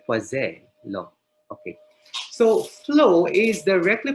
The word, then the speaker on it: Poiseuille: Pero silent L daw, Poiseuille law.